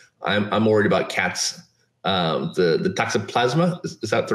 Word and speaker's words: toxoplasma: The toxoplasma, is that the right?